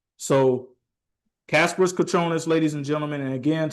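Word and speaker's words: Kasparas Jakučionis: Kasparis his name pronunciation. It is Kasparis Kuchonis. So Kasparis Kachonis, ladies and gentlemen.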